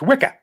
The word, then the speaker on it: Wicker: It occurs to me that Wicker in the Bronx is pronounced Wicca, which is the witch's coven.